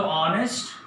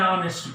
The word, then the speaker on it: honest: We don't pronounce H, starts with O, or. So honest, an honest person.